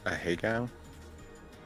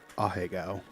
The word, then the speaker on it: Ahegao: I believe the correct way to pronounce it is Ahegao. Which is neither of the ways they told us in chat. Ahegao, by the way.